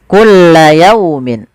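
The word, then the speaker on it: كُلَّ يَوْمٍ: Nah nanti kita bahas kulla yaumin yau. Di sini ada fathah bertemu wau. Bacaan lin harus lembut.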